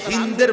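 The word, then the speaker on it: هند: নির্দেশে আবু সুফিয়ানের স্ত্রী হিন্দ বিন্তে উতবা যারে বাংলায় উচ্চারণে হিন্দা বলে হিন্দ মূলত তার নাম আকারটা নাই আর কি হিন্দ এই হিন্দ নামের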